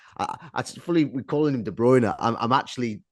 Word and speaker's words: De Bruyne: Bruyne in or I fully we're calling him De Bruyne. I'm I'm actually like this next season as to what to call him because of course the correct pronunciation is De Bruer.